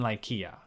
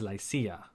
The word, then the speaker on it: Lycia: exception of cilicia and lykia which i guess the more latinized pronunciation is lycia or licia i've actually heard professors use all three along with this already